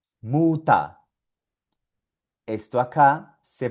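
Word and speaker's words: Mutter: Esto aquí se pronuncia Muta, Muta. Esto acá se pronuncia Lehrer, Lehrer. Y esto acá se pronuncia Vasa, Vasa. Suena solo como A.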